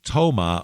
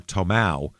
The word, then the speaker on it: Tomah: it um they they they pronounced the name Toma or t or tomow and he became known